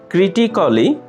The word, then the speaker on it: critically: Critically. ক্রিটিক্যালি, সমালোচনামূলকভাবে। ক্রিটিক্যালি, সমালোচনামূলকভাবে। এখানে mark করা এ লেটারটি হচ্ছে সাইলেন্ট লেটার।